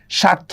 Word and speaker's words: স্বার্থ: দেখেন স্বাধীন দেখছেন বফলার উচ্চারণ হচ্ছে না স্বাধীন স্বার্থ দেখছেন বফলার উচ্চারণ হচ্ছে না আর বফলার বদলে কোন চন্দ্রবিন্দুও কিন্তু হয় না আচ্ছা শব্দের মধ্যে বা শেষে বফলার উচ্চারণ দত্ত হয়।